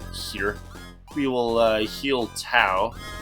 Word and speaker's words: Tao: And then we'll hear um here we will uh heal towel. I believe her name is actually pronounced Teao, but I call it I call her Tao.